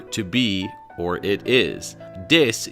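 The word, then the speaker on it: です: Des is pronounced des in Japan, not desu.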